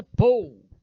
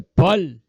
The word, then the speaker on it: Paul: A pronúncia inglesa é Paul, mas a francesa é Paul.